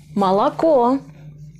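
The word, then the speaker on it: молоко: Malako. Malako. Burada da son hece vurgulu. İlk iki hece vurgusuz. O yüzden o yerine a okunur.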